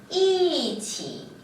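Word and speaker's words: 一起: 이 뒤에 일성이 오는 경우 또는 이성이 오는 경우 또는 삼성이 오는 경우 원래 이는요 이 이렇게 발음을 했어요. 자, 말할 때만 그러는 거예요. 그런다고 나 여기에 표기를 하는데 그거를 사성으로 표기하는 건 아닙니다. 사전을 보면은요 전부 다 이는 일성으로 되어 있어요.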